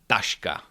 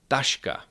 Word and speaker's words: taška: Dashka. Tashka that's a bag kosh kosh that is a basket with hatche is pronounced ch like in the English words check